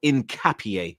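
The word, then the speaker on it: Hincapié: Um, Hinapi um, Incapier, sorry, they told me how to pronounce his name now. It's Pierro Incapier, you get me?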